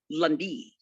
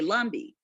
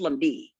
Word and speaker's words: Lumbee: So, we are called the Lumbi, and that's the way you pronounce it. Uh, you'll hear Southerners say Lumbi, but it's Lumbi.